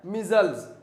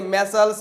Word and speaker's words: measles: तो और इसका प्रोनाउंसिएशन ध्यान रखेगा, मीजल्स। इसका प्रोनाउंसिएशन क्या है, मीजल्स। इसे मैसल्स मिसल्स कुछ बोल दिया जाता है, इसका सही प्रोनाउंसिएशन है मीजल्स। क्या है, मीजल्स।